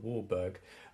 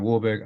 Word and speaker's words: Warburg: the 1920s um yeah Professor Warburg I think he's pronounced wolberg it probably is yeah we'll continue with Warburg